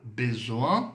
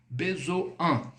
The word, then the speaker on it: besoin: Avoir besoin de. Besoin. Outra dica. Quando você deparar dentro de uma palavra esse IN, o IN no francês ele tem som de an, tá?